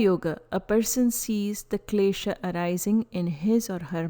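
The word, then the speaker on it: kleśa: Pronunciations for this presentation are Patanjali Yoga Sutra, Klesha, Klesha. Please note, U and H are almost silent and used here only to prevent mispronunciations arising from a sound.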